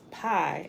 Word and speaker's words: pi: Number 16, the 16th letter in sequence in the alphabet was P, pronounced pi, as in pie in the sky, Jesus.